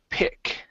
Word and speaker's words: pick: Okay, next up is pick. Okay, so here it's a short I instead of peck up, it's pick.